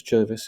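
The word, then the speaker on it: Gervase: Um so Jervis Bush um that's spelled Jervis but it's Jervis is how it's pronounced. Jervis Bush.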